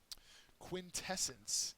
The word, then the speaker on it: quintessence: you're good on that quintessence is the next word uh it's a noun second syllable is accented and it's the purest